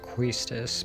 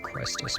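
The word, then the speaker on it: Quistis: I know it's pronounced Questus, but I like Questus better.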